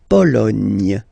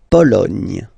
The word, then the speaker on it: Pologne: Remember in French, sorry, H doesn't exist, okay, so you don't pronounce it, and it's li, tu, a, ni, Lituanie. La Lituanie. Okay, continues. La Pologne. Nya, again. La Pologne.